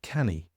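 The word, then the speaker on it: Canu: So we set up our own publishing company, which is called, it's pronounced, it's spelt C-A-N-U, Welsh word, and it's pronounced canny.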